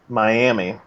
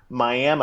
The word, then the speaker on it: Miami: grew up in Oklahoma spelled mi a mi Miami in Florida right but it's actually pronounced Miami now that's weird and it still seems wrong